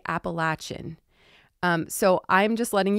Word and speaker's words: Appalachian: ignorant in the South if you ever say Appalachian you have to say appalachin um so I'm just letting you guys know you will hear people say appalachin in the South that is their pronunciation for